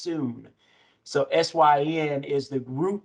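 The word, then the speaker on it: σύν: It's spelled S-Y-N, but it's pronounced soon.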